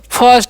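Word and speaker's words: first: जैसे में एफ आई आर एस टी, तो फिस्ट नहीं पढ़ते हैं, क्या पढ़ते हैं इसे हम लोग फर्स्ट पढ़ते हैं, क्या पढ़ते हैं, फर्स्ट।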